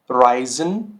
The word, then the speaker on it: reisen: zum Beispiel देखिए, bleiben, bleiben, reisen, reisen, ice, ice। और इन तीनों वर्ड्स में देखिए ये कॉम्बिनेशन आ रहा है। ठीक है, बट ये साउंड क्या कर रहा है, आई अल्फ़ाबेट की तरह, आई ऑफ इंग्लिश।